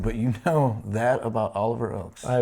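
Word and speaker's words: Oakes: And we put a little phonetic pronunciation there for you folks. It is Oliver Oaks.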